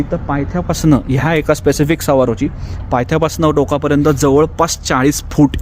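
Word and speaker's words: Saguaro: वनस्पती असते तर मित्रांनो ह्याचं नाव आहे सवारो ्याच स्पेलिंग सगुवारो असं होतं इंग्लिश अ फनी लँंग्वेज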